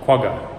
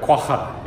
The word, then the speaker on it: quagga: South Africa or as my American friends would say the quagga but quaza is how you actually pronounce it in South Africa an extinct animal don't